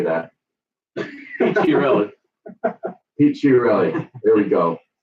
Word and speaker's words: Chiarelli: Chiarelli.